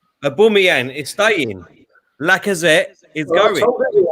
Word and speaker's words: Aubameyang: Yeah, Aubameyang.